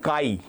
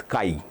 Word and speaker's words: chi: So this is called kai. Okay. C hi but it is pronounced as kai.